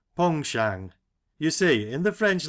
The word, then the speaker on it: penchant: for fishing heavy sides that's a French word begging your pardon Mr barsley and pronounced pong Shang you see in the